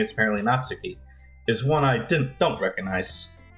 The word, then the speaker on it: Natsuki: people like Sayori and Natsuki. Ah, well, it's nice to meet both of you. It's weird because I pronounce it in my head like Natsuki, but I'm putting the emphasis in the other place.